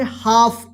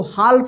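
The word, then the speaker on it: half: एच ए एल एफ, देखिए एफ से पहले क्या है एल है ना, तो इसको क्या पढ़ेंगे हाफ, इसको हाल्फ मत पढ़िएगा, हाफ।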